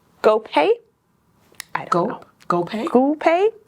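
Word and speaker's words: Guo Pei: It's GoPay. I don't know. GoPay. GoPay. Oh. GoPay. How do you spell it?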